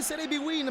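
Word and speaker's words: Serie Bwin: Si legge Serie B-Win, ma è un vero e proprio antipasto di Serie A.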